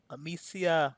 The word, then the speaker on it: Amicia: Amicia.